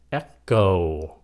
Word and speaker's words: echo: Macho, mà cái chữ này là echo, âm cô, echo.